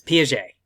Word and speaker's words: Piaget: And I know it doesn't look like it should be pronounced that way, but it's Piaget.